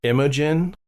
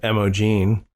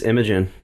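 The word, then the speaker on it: Imogen: got uh May 31st imagin cuz I was saying her name wrong before I thought it was emogene it's imagin imagin Clark who we will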